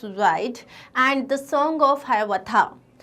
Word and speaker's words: Hiawatha: His well-known poems include Paul Rever's Ride and the Song of Hiawatha. और इसको हियावाथा भी बोलते हैं, both pronunciations are correct.